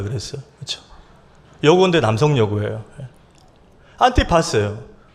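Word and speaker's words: Antipas: 오늘 안디바예요.이 안디바가 원어로 발음하면 이렇습니다. 안티파스예요.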